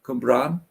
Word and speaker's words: Cwmbran: I'm really happy I pronounced that right. Well said, Reedy. Cwmbran.